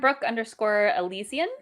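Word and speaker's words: Brooke Elysian: Yeah, on Instagram, Brooke_Elysian is how you say that also.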